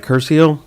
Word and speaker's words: Curcio: see so i you're i'm not pronouncing your name correctly right curcio yes it is all right so dr